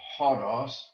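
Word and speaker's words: ὁδός: Hodos will be written like that with a hard breathing and what we call an acute accent. And so the pronunciation will be hodos and not hodos.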